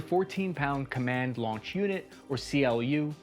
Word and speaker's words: CLU: command launch unit or clu pronounced clue as in you have no clue how big this explosion is going to be